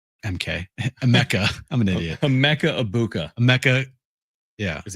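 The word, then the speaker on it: Emeka Egbuka: Emeka Ibuka. Emeka. Yeah. Is how it's pronounced.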